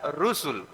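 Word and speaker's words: رسل: dan lam awalnya begitu Kalau sebelum lamnya ada wau itu bacanya Rasul tapi kalau enggak ada wawunya dibaca rusul ahah bedanya dikit tapi maknanya beda Saya ulang kalau ro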